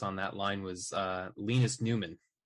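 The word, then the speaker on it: Nyman: that line was Linus Newman. Spelled N-Y-M-A-N, but pronounced Newman.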